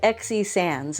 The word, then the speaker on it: XE Sands: And XE Sands, it's spelled XE is her first name. Sands as in like the sands of the ocean.